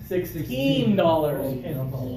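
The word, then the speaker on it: sixteen: what somebody said um I want you guys to pronounce the last syllable stronger $16 you're not always going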